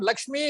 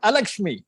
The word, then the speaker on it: अलक्ष्मी: तो so whenever sir was teaching, he made it a point that it is not Lakshmi, it is Alakshmi, okay.